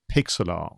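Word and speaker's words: Pixlr: i was reminded of something called pixelart so this is how i pronounce it but it is spelled p i xlr dot com and then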